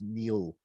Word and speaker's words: Niall: But, and it's spelled Niall, but pronounced Neil.